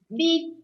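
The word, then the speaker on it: beb: Eternity is beep. Beep. Beep. Very short. So funny, huh? B-E-B. B-E-B is called beep.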